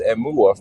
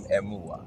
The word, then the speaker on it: Emuwa: So last name is Emuwa. First name, friends call me because it's pronounced.